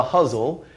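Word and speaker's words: Ghazal: What it is it's a form called the Huzzle, which has a lot to do with why I chose it as a title. Huzzle is spelled G-H-A-Z-A-L, and it's actually our oldest form.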